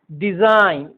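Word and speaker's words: design: डिजाइन, फॉरेन, rain. यह beginning में आए, बिगनिंग और एंड में आए, दोनों स्थिति में जी के बाद एन रहने पर जी का उच्चारण साइलेंट होता है।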